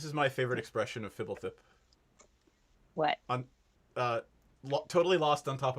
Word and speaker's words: Fibblethip: It's Fibblethip. Fibble. That's how you say it. Fibble, like Fibble, Thip.